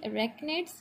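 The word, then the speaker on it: arachnids: फिर है हमारे पास अरेक्निड्स, ठीक है, इसको हम प्रोनाउंस करेंगे अरेक्निड्स।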